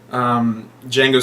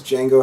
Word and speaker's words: Django: The guy who asks Django how his name is spelled, and then when he says the D is silent, the guy says, I know.